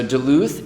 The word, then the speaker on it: Duluth: So Duluth is a city about when I was growing